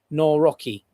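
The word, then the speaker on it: Nawrocki: president uh no no No Rocky. I know that's not the best pronunciation, but given that he's a bit more of a nationalist and right of center, Trump likes him, obviously.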